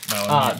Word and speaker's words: Malamute: I remember because I was told that I pronounced it incorrectly. Malamute.